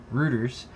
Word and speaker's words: Reuters: Is it Reuters or Reuters? Reuters. How do you pronounce it? Reuters. Reuters? It's just Yeah, Reuters, right? like neuter.